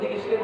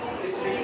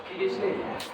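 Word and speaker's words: Dirichlet: Statement लिखना डिरिचलेट test, ऐसे इसको डिरिचलेट बोलते हैं, डिरिचलेट नहीं है, डिरिचलेट।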